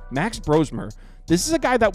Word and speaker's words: Brosmer: week with Minnesota Max brosmer I guess it's brosmer by the way I've been saying brosmer but the announcers in that game were saying brosmer so I apologize I guess I've been saying his name wrong Max brosmer this is